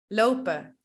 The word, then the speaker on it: lopen: When we speak at a normal speed and with other native speakers, we don't pronounce the N and the E sounds like a. So we say lopen, eten, werken, mannen, pennen, rennen.